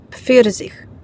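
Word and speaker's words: Pfirsich: K наступне букво сполучення п ф читається ПФ пфірзх персик пфлауме слива фаре пастор наступне буквосполучення Піха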